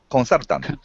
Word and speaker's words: consultant: Consultant. right, because what I Mm. want consultant. So the stress is on the second syllable.